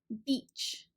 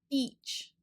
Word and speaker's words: beach: is still pretty new you might want to be really careful with this vowel Beach for this one it's a very high and front sound and our shape is kind of wide with our lips and our cheeks e Beach sometimes depending on your